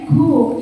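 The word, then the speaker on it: cook: Kemudian ini ada lagi yang tulisannya C-O-O-K. Baru aja ditulis siswa di belakang sudah ramai cuk, itu bacanya cuk gitu ya. Padahal enggak Mas, ini bacanya ku. Ya beda lah Bu, itu kan jelas-jelas tulisannya C gitu ya, mesti dibaca ku gitu ya.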